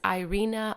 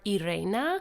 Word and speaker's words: Irena: quick little side note her name can be pronounced as Irina or Irena basically the difference in the Polish and English pronunciations so I apologize if